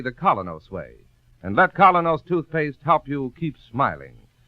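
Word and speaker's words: Kolynos: We honestly believe that Colinos toothpaste will help clean and polish teeth more effectively, safely, beautifully.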